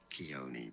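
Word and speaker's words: Khione: okay Kon Keon Keon let's see how to pronounce that in English is generally said as ke Keon because of these K now it keone got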